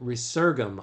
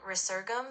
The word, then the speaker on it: resurgam: So resurgam, I think, is how you're pronouncing that. The V, I think in Old Latin, is the U sound.